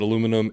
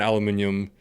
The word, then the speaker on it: aluminium: i think i think you can make the argument that aluminum and aluminium are both acceptable just depending depending on